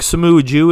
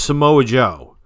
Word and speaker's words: Samoa Joe: Can you tell me who the fuck Samoa Jew is? Can you tell me who Samoa Jew is? Because I thought his name was Samoa Joe.